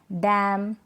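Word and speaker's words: damn: तो ये जो स्पेलिंग्स है ना, यहाँ पर एन से पहले लास्ट में, स्पेलिंग के लास्ट में क्या है, एन से पहले एम है, इसलिए हम एन को प्रोनाउंस नहीं कर रहे हैं।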